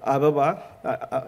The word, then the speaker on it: Ababa: i do understand the the correct pronunciation of Ababa as Ababa which is flower so those are the